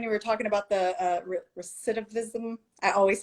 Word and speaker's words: recidivism: Because especially when you were talking about the recidivism, I always say it wrong.